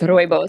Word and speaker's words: rooibos: How do you pronounce it, sorry? It's rooibos.